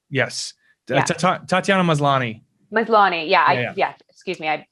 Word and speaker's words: Maslany: uh orphan black she's there she it's tatiana mosley yes tatiana maslany yeah yeah excuse me i butchered her last name it's okay uh she